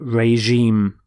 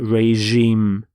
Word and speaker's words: regime: changed to Reg but reim notice the pronunciation of the G is the J sound reim so the F the